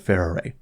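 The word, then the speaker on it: Farore: pronunciation of fair array I am not calling Pharaoh array pharah in Japanese they pronounce her name using three syllables and if it's good enough for the Japanese it's good enough for me so for the duration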